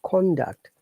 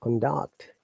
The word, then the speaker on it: conduct: I'm sorry, for the noun, we stress on the first part. So, for example, conduct. And when it's a verb, we stress on the second one, conduct.